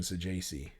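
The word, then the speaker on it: Saggese: Is it Thomas Saji? I feel like we've talked about this before. Yeah, it is. I believe that is I I believe that's the uh the the official announce pron pronunciation. Saji.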